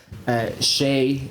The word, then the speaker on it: Hsieh: a very tough first round as well against Shea. That's how I pronounce it.